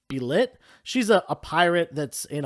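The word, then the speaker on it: Bêlit: death of i believe her name is pronounced be lit she's a pirate that's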